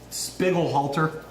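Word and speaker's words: Spiegelhalter: time out of Cambridge sir um spiggle halter that's how you say his name sure yeah I called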